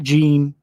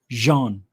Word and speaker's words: Jean: me about john ward he's french that's how you say his name not gene not john jean with respect he always